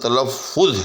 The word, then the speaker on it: تلفظ: کے اوپر پیش ہے۔ اسی طرح سے درست لفظ تلفظ ہے، فے کے اوپر پیش ہے۔ درست لفظ تصنع ہے،